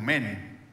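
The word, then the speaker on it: μένω: del original griego que se escribe muy raro pero se pronuncia algo así como men y men significa quedarse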